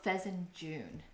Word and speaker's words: fesenjan: stew Feen it's called fezen June don't know if the pronun pronunciation is correct but the the last three letters I think is pronounced like j o o n rather than J an and of course we